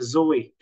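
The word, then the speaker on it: ζωή: The bios, and the soke or psyche, and then the zoe, or today we pronounce it zoe.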